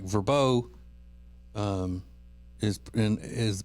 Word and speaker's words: VRBO: Airbnb or uh a as it's pronounced like verbo um is is pronounced that and not VRBO and so is aan